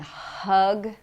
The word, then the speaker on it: hug: to understand you, because in English we have no relationship between H and R. For example, with the word rug and hug.